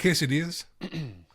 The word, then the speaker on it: quesadilla: So, if there's a double L, it's it's pronounced with a Y.